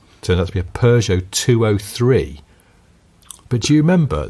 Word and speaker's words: Peugeot: He says it was a Peugeot. Wow. He says, but I was not alone in mispronouncing the brand. In Nigeria, people said Piju.